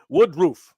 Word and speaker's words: Woodruff: It's pronounced roof, like roof of a house, but thank you. Wood roof.